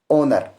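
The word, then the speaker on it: honour: हा ए जाता है तो उसे वक्त हा साइलेंट होता है आप समझेंगे की कैसे जैसे आप मां लीजिए की सच है पहले ओनर दूसरा क्या है पावर दूसरा है ओनर और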